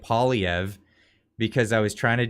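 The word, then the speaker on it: Poilievre: I'm terrible at pronunciation I got told that I say uh polyev wrong I had to start calling it saying it poliev because I was trying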